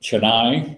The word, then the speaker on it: Chennai: kind of thing yeah chenine we pronounce that Chennai that is ch e in na and I want you